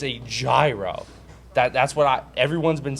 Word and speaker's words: gyro: gyro exactly it's a gyro that that's what everyone's been saying it's gyro I agree don't worry because there are no wrong answers the official pronunciation is like the European money hero but since this is